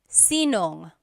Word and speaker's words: sinong: And then just a pronunciation tip. If you have sino ang in a question, you might hear sinong. So they put it together.